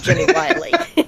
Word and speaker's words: Wiley: the signs and stuff, it looks like it should be Jenny Willie instead of Jenny Wiley. I know, but it isn't. Until you said it, I that's how my head pronounced it. You know how that goes. There's one L, Wiley, Wiley. If there were two L's, it'd be Willie. No, if it was one L, it'd be Wiley.